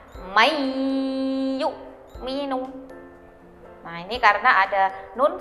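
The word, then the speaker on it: مَنْ يُؤْمِنُ: Contohnya yaitu mayyu'minu. Nah, jadi bukan man yu'minu ya, jadi membacanya dimasukkan ke huruf idgham bigunnah, mayyu'minu.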